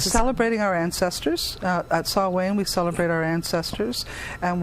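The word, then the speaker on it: Samhain: know is Halloween in do you spell it Sam Hayne yes that's exactly how you spell it it's saw Wayne sne what's with that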